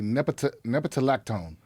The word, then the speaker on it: nepetalactone: How do you say that word? Nepentala. Want to try that, Jamie? I'm going to say nepetalactone. I think you're right.